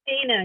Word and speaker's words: Deanna: Deanna. It's Dina. You said it right.